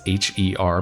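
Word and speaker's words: H.E.R.: a singer called her or it's h-e-r but i think it's pronounced her yeah something said to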